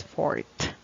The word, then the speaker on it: forte: blade the strongest part of the blade its fort let's have the next word it's this how do you pronounce this you usually order this okay is